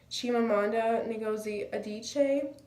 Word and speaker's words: Chimamanda Ngozi Adichie: TED talk speaker I think her name is pronounced Chimamanda Ngozi Adichie she made her points by using anecdotes such